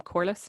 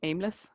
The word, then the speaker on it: Corliss: His name is Tom Corliss, not Tom Aimless.